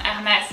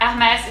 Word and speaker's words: Hermès: I would say that when you don't know, if you're in doubt, if, for example, you don't know the word, I would say there is a very strong likelihood that the emphasis is on the last letter, and for Hermès it's definitely the case because the S kind of goes like, I would say, little snakes that go towards you, it goes that kind of stuff.